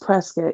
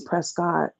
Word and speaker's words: Prescott: like six months um I've been driving to presc a lot it's called It's pronounced presc even though we think of it is Prescott yeah I was going to say prescot's a